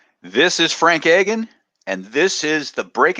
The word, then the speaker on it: Agin: Frank Agin is not right. It's Frank Agin. How did you say it? Agin, yeah, Agin, hard Agin. G. Agin. Okay, Hard G.